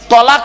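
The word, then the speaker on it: طلاق: ও বাবা, তালাক নয়, শব্দটা হবে তলাক। ওর আরবি উচ্চারণ কি জানেন? তোয়েল আমারিফ কফ। বাংলা উচ্চারণ কি? তয় বয় লয়াকার ক।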